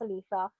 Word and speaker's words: Aletha: It's pronounced Aletha. Like Aretha, but oh my gosh, I love it.